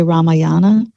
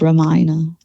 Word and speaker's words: Ramayana: It's it's if you read it phonetically, you'd say Ramayana, Okay. but I think it's pronounced Ramayana Okay.